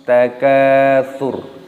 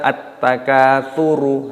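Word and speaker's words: التكاثر: Roknya di sini dimatikan. Kenapa? Ada tanda waqaf di sini. Maka roknya dibaca sukun ataupun mati. Jangan dibaca at-takatsuru. Nah, itu salah.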